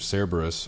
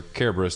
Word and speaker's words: Cerberus: Fantasy 7 dirge of cerberus or Kerberos depending on how you want to pronounce it Care Bears Care Bears